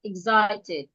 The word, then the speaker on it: excited: it is three syllables mostly we stress the second syllable. Exited z that is the part we're stressing excited. So since we're stressing the second syllable the e in excited is it going to sound e or it should sound. Remember we are not stressing it. We are not stressing it. It should sound A.